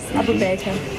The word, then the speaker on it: Abu Baker: Yes, Abu Baker. Abu Bakr. What are you saying? It's pronounced as it's spelled. That's the easiest way.